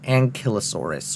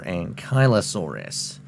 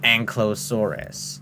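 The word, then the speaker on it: Ankylosaurus: Unlike the blunt force tail clubs of Ankallosaurus, it's pronounced Ankilosaurus or Ankyosaurus, not Ankallosaurus.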